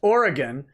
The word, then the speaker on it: Oregon: Dick Masterson, Rick Robinson says, Nick, please, it is pronounced Oregon for the panel.